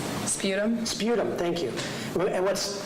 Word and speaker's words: sputum: what did you rate her i'm sorry it's pronounced that word for me spot him sputum sputum thank you and what's what's sputum like